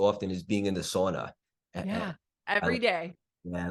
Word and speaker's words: sauna: so I grew up we call it sauna uh which is The Finnish pronunciation and my grandpa's name